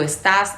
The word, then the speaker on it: estás: estáis ellos ellas están lo irregular en este verbo es el acento que no queda en la penúltima sílaba como en el verbo hablar yo hablo tú hablas el Habla tú estás él está o sea se mueve a la última sílaba en la segunda y en la tercera persona del singular y el último verbo